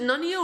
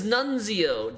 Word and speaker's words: Nunzio: Is it Nunio or Nunzio? Have I been saying it wrong the whole time? Probably. It is Nunzio, damn it.